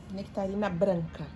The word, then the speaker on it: nectarina branca: Nectarina branca.